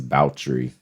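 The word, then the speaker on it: Báthory: elizabeth bautry we're uh saying that her name is bautry because that's the pronunciation noise allegedly that's right um yeah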